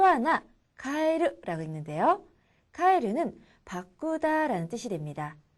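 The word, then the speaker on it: 変える: 자, 그리고 또 하나 카에르라고 읽는데요. 카에르는 바꾸다라는 뜻이 됩니다. 그래서 헤어스타일로 카에르 하면은 헤어스타일을 바꾸다라는 뜻이 됩니다.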